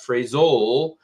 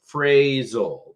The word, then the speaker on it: phrasal: good thing in English when you have the long a sound which you can kind of write out phonetically like this that's typically where the emphasis the word is so it's not phasal it's phrasal and the good thing